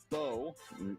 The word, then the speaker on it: Bo: It's pronounced Bo. As in? Hair bow.